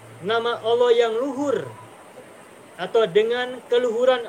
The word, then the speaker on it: Allah: berasal dari kata ilahun diawali oleh Al menjadi Al Ilahi kemudian diringankan bacanya semula Al ilahu menjadi Allah atau semula menjadi Allah kemudian di tafkhim menjadi Allah nah ketika kita tahu